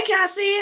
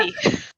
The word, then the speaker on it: Casey: Hi, Cassie. How are you? Good. And I won't judge you for saying my name wrong, but that's okay. Did I? No, it's God. Casey.